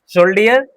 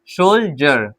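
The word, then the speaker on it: soldier: डी आई ई आर शोल्डर नहीं गलत हो जाएगा ठीक है शोल हमने कहा डी के साथ आई ई आर आई इ आर है तो हम डी को ज पढ़ेंगे सोल्जर क्या पढ़ेंगे सो जी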